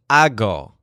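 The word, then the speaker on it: hago: my hog first now the word he uses is a go which sounds kind of like I'll go but it starts with a silent H at the beginning H AG o AG o the word a go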